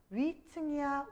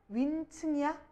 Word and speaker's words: 위층: 근데 얘는 위층 처음부터 이게 무슨 소리야? 거센 소리지. 얘다. 여기서 지금 된 소리가 덧날 수가 있어. 된 소리 안 되면 니은이 윈층이야. 아니면 윈층이야. 이렇게 된 소리 이렇게 사이 소리가 덧나는 세 가지 양상에 위층은 들어가지가 않아요.